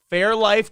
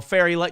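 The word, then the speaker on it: Fairlife: there fairy life oh Fairy like no that's not how you pronounce it it's fair life I I'm horrible with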